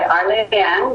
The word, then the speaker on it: Arlienne: I go by Arlienne, which is French.